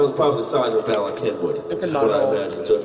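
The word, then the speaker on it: Bala Cynwyd: the the town is probably the size of Bak Henwood what I imagine so if you don't live in within five that's how you pronounce this town Bakin binw it's Welsh yes there's no there's there's a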